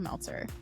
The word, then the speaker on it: Meltzer: I'm your host, Meltzer. It rhymes with seltzer, and you're in the